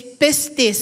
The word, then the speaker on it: pistis: Pag sinabing have faith, faith in the Greek word is pistis. Sabihin niyo nga, "Pis. Don't forget to pronounce the s hais.